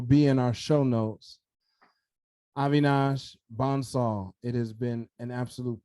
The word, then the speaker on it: Avinash Bansal: Avinash Bansal.